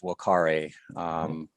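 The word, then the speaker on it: vocare: the root word is wakare where the v is just pronounced like a w but whalkari is just really means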